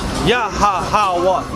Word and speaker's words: Yahweh: Yahweh, Yahweh.